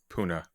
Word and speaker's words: Pune: It's actually pronounced puna.